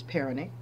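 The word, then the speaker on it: pharaonic: I think it's peronic. I'm going to spell it for you.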